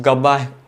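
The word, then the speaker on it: Gabba: इसकी कीपिंग इसकी sledging his गब्बा गब्बा क्या बोल रहा हो हिज गाबा हीरो एकस ऐसे ही प्रोनाउंस करते हैं ना गाबा हां इस गाबा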